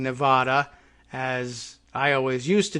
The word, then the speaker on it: Nevada: out well of course the correct pronunciation really should be based on the Spanish name for the state and we should be saying Nevada as I always used